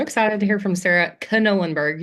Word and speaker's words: Knollenberg: to hear from Sarah Knollenberg. You do pronounce the K, by the way.